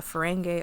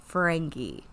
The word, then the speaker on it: Ferengi: It's okay, spelled with just an I on the end. I know, but that still makes me think of fungi.